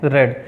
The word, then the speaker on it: read: मतलब रीड, second form रेड और third form रेड। बच्चों स्पेलिंग तीनों की सेम होती है, READ, लेकिन फर्स्ट को रीड पढ़ते हैं, सेकंड को रेड और थर्ड को रेड।